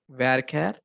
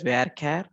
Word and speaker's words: varchar: And I want to name the city as varchar. This is pronounced as varchar or varchar. You can pronounce it the way you like.